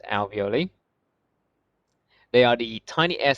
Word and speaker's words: alveoli: got the alveoli or i like to call them avioly because you know but they're pronounced alveoli they are the tiny